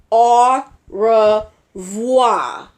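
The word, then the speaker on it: au revoir: wha are you wha you say it like this are raw voix or rah rah that's fridge for goodbyes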